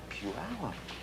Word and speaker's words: Puyallup: Puyallup. That's how we say it. This is how we spell it. How we got the one from the other, I have no idea.